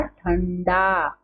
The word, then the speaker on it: ठंडा: तो यहाँ पर किसका उच्चारण होगा? ण का। तो क्या होगा? ठंडा।